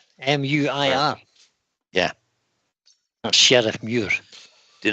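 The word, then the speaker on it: Sheriffmuir: Sheriff Muir. M-U-I-R. Yeah. That's Sheriff Muir. Did not pronounce it right.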